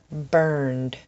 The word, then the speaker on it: burned: Burned, learned, opened, planned. The sound at the end is nd, nd, nd.